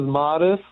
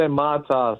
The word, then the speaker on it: Matas: I mean, the correct way is Modest, but a lot of people say Matas.